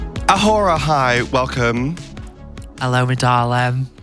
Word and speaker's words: A'whora: She invented the word Dora to rhyme with her name. It's Awhora. Awhora, hi, welcome.